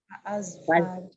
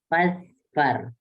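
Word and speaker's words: فَاظْفَرْ: Nah, cara membacanya adalah digabungkan fazfar. Jadi tidak dibaca fa'azfar. Fazfar, iya.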